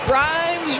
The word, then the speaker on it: Grimes: Grimes rhymes with dimes on time right there.